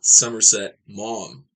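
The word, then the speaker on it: Somerset Maugham: W Somerset mom. That's how you say that. Mom. It's like saying mom, but mom.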